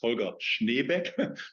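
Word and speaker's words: Helga Schneck: with you and yes my name you have heard it is hulga schneck that is how we pronounce it in Germany and I'm yeah I'm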